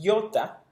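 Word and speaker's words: ἰῶτα: Luego tenemos iota, suena como nuestra I latina.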